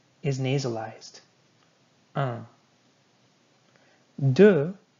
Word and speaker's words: deux: Deux. You're not going to be saying the X. Deux.